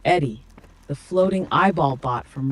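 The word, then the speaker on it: ED-E: What he's talking about is Ed, pronounced Eddie, the floating eyeball bot from Repcon that eventually becomes one of your best companions.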